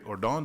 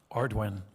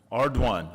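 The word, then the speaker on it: Ardoin: Secretary Ordon, did I pronounce that properly? Ardwin. Ardwin. Okay, my wife's from Louisiana, so I knew that there would be multiple ways that could be pronounced.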